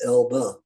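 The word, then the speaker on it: Elbe: on the the uh Elba River e- lbe but it's pronounced Elba and uh we got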